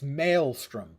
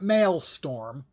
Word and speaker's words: Maelstrom: against bosses and like It's mastrom. The word is mastrom, not masttorm. The number of streamers I have seen mispronounce that word.